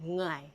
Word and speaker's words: Ngai: I'm not hitting the first letter. So just think about it. I mean, the word, if you translate it to English, is actually NGHAI. There's an accent, but it's NG. Ngai.